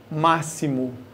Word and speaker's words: máximo: x se pronuncia como máximo é como se ele fosse um som de s esse xis aqui você